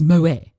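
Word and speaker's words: Moët: It's Moet. Do you have people saying, oh no, you've pronounced that completely wrong?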